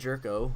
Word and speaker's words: Gyorko: much about him in a while but jedd gyorko which I did not know how to pronounce his name until somebody said it jedd gyorko who is on the Cardinals I'm sorry I